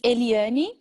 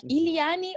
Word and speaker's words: Eliane: do you do okay my name is eliani i think it's a little bit difficult to americans should pronounce my name like ilyani or elaine or something elaine i'm a journalist i